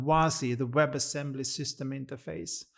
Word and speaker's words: WASI: the secret source that what makes this possible is spelled wazi the web assembly system interface was kind of a magic thing.